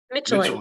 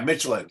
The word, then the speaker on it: Mitschelen: Mitschelen. Mitchell. Yeah, Yeah, Mitchelen, like the tires almost.